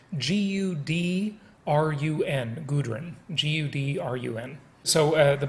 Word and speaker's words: Gudrun: relocation would be the easiest and let me spell that by the way it's g-u-d-r-u-n gudrun g-u-d-r-u-n so uh the book is entitled